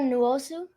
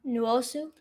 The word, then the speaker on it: Nwosu: Uchenna Nwosu. Very good. Say his name again, his last name? Nwosu.